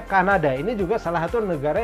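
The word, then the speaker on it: Canada: nggak enak gitu jadi nih enggaknya kada Oke Kanada adalah negara dimana saya lahir Oke kalau bilik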